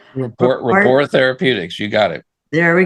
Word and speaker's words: Rapport Therapeutics: Paul is also a founder and chairman of the board at Report. Did I pronounce that correctly? Rapport Therapeutics.